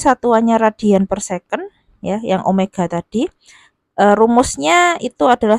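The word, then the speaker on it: ω (omega): kurung e Omega T Ini bukan W ya Sekali lagi Ini bacanya Omega Omega itu latin ee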